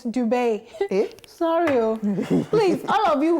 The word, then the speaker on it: Dubai: Mazi FM tweeted, so I heard Dubai is actually not pronounced do. The way I just pronounced it, Dubai, like D-O-O and buy. Rather, it is Dubai.